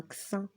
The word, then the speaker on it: vaccin: عندنا دو سي في وسط الكلمة ننطقها vaccin.